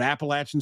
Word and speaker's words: Appalachian: And they're I think they're a bunch of college guys, or probably by now former college guys at Appalachian State University. And yes, it is pronounced Appalachian, God damn it.